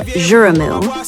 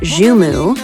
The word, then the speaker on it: Joumou: Some people say Joumou, some say Joumou, depends on what part of Haiti you are from.